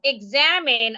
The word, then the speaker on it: examine: So, there is a rule that says that when you have a word that has three syllables, the word should naturally be stressed on its second syllable. for no particular reason. We just tend to stress the word on it second syllable.